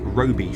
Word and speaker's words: Roby: Shortly be coming up on, I think it's pronounced Roby Station. Spelled R-O-B-Y. It could be Robbie, but I think it's probably Roby.